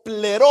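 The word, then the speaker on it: πληρόω: En el griego es una determinación que se escucha o se pronuncia así como pleró. O sea, cuando dice el pleró, el ser llenos, está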